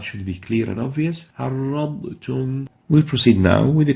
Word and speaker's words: عرضتم: Now, there's a ta after the Dhad, and you tend to delete or hide the ba and directly pronounce the r with the ta. عرضتم.